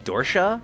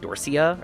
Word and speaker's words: Dorsia: So apparently there's a joke in the movie that completely went over my head is apparently it's pronounced Dorscha and not like Dorsia or however they say it in the movie so it's all like posturing.